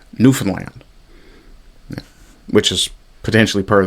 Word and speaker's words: Newfoundland: really the proper pronunciation is nof is that's that's where your your your stress your um emphasis would be is on nofen land which is potentially part